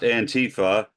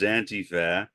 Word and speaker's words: antifa: to focus on the subject of antifa not antifa as Donald Trump pronounces it it is antifa because with antifa you can extend it it's